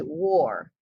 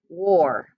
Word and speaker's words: wore: mask while grocery shopping okay war it kind of sounds like war as in a battle but it's w-o-r-e war good job and i